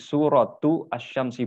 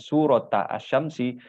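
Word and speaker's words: سورة الشمس: marbutoh ya ini kirova jadi surotu assyamsi bukan bukan surat assyamsi tapi surotu assyamsi surat sushi karena suroh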